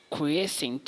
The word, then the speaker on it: quiescent: it for you the it is pronounced as the quiescent stage so this word when